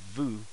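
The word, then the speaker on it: ヴ: to say is it there is no in in japanese they don't have is a V sound V what they do to seem like the or tell students that represent the vu so let's say you have a vu what they will do is they'll take this ooh and they will add a voice mark so the ubi comes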